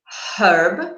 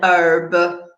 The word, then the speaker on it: herb: In the UK, we would say a herb using a h sound, whereas in the US, an herb, not pronouncing the H.